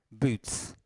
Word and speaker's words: boots: Boots, boots, con la U, quindi boots, okay?